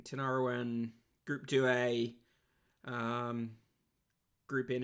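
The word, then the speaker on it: Tinariwen: um alifaka toure uh tina ruin tinaroin sorry i don't know why i say it like that i said it wrong um tinarawen group 2a um group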